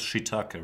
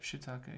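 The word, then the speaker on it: shiitake: it the whole thing with uh it is pronounced shitake right shitake yeah cuz I could think of other pronunciations but they'd be wrong it's pretty much shitake okay shitake Shake I see is it Japanese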